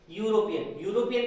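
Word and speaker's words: European: यूरोपियन का sound किससे आ रहा है? या। देखने में ये फर्स्ट लेटर वॉवेल है, हमें ए ई आई ओ यू नहीं देखना है, हमें हिंदी का आ से आ देखना है। Okay, A ई आई ओ यू देखेंगे ना तो हम प्रॉब्लम में पड़ जाएंगे। यूरोपियन में क्या आ रहा है? या आता है तो ए।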